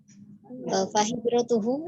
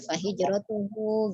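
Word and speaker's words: فهجرته: Kemudian fahijratuhu yang di akhir matannya terdengar agak dipanjangkan. Jadi tidak seperti baca Al-Qur'an ya, bukan matilah, jadi tidak usah dibaca fahijratuhu gitu, bacanya pendek saja.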